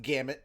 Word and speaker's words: gamut: __ ] it's English it's pronounced gamut that's all it ran